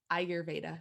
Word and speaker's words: Ayurveda: And that's kind of when I was introduced to Ayurveda.